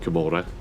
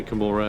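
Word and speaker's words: Commorragh: say kamora I know a lot of people say KAG and stuff like that I say kamora because I think it's supposed to be more like Sodom and gomorra I think it's like the pronunciation they're going for but that could be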